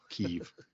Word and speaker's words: Kyiv: the ghost of Kiev, is it Oh, Kyiv? yes.